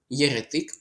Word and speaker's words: єретик: Яретик правильний наголос стоїть. Запам'ятайте наголос на третій склад.